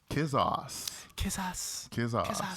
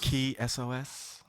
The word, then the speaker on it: Kisos: And it's none other than artist Kisos. Or Kisos. Key SOS. I heard him pronounce it like maybe one time.